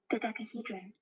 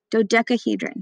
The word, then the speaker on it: Dodecahedron: This is how it's pronounced. Dodecahedron. Dodecahedron.